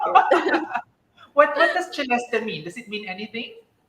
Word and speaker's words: Celeste: All right, it is Celeste. Yes. That's how you pronounce my name, yes. Celeste. Pero in the Philippines, Celeste ka, no? Celeste.